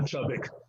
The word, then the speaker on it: Chubbuck: Chubbuck. Okay. You showed a clip from Halle Berry. Yes. She in that speech she thanks Ivana Chubbuck.